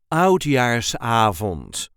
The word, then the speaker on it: Oudjaarsavond: We pronounce it as Oudjaarsavond or Oudejaarsavond. The emphasis is on the A of avond.